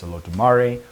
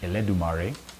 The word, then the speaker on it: Olodumare: In this spiritual tradition, there is one supreme god known as Olodumare, or sometimes pronounced Eledumare.